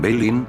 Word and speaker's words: belin: Belín, aunque la ortografía correcta sea Bellin, con el pronunciación Belin, la expresión es el